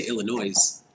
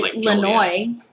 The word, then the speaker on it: Illinois: you say this planes how we don't say illinois's no make up your mind Illinois what your